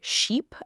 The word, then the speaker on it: sheep: told me they ordered sheep at a restaurant instead of ship. The waiter was very confused. The trick. Keep your mouth tighter and shorter for ship and stretch it for sheep.